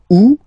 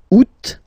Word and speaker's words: août: Ou, first option. Août, second option.